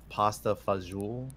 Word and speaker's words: pasta fagioli: Why is pasta fagioli spelled the way it is?